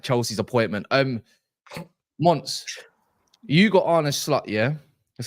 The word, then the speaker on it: Arne Slot: Mons, you got Arne Slot, yeah?